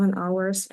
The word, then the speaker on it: hours: He sleeps 7 hours a night. Hours, пам'ятаємо, читається без H.